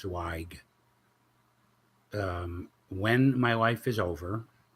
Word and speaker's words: Zweig: And my last name is Zweig. It's pronounced Zweig.